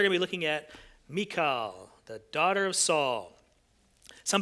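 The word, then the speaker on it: Michal: Today we are going to be looking at Mikael, the daughter of Saul. Some people pronounce it her name Michael, but I have a son named Michael, so I'm just going to stay away from that altogether.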